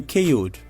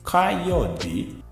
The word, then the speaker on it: Kayode: Just tell me KO'd. That's not the way it should be pronounced. It should be pronounced as Kayode.